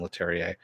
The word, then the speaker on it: Leterrier: The first episode, by the way, was directed by Louis Leterrier, yeah, that's how you pronounce his name, Leterrier.